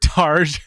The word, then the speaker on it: Targe: in the raw my guest today is targey uh tarj targe we had a little uh mix up on how to pronounce his name so yes it's targe